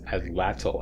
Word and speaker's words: atlatl: Frontier the atlatl I finally learned how to pronounce this atlatl I saw a movie a couple weeks ago